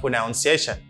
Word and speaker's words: pronunciation: People say pronunciation. Why do people pronounce it like this? Because of the verb to pronounce. To pronounce. Le fait que moun yo wè pronounce, amen yo di amen prononciation a pronunciation. No, it's not pronunciation. It's pronunciation.